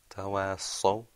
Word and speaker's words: تواصوا: Tawasaw. Okay. Now the way to help you, that was right. Just remember now to purse your lips when you pronounce the sod sound.